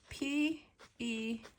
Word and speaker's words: Penelope: P-E-N-E-L-O-P-E. How do you pronounce this name? P-E-N-E-L-O-P-E. I pronounce it Penelope.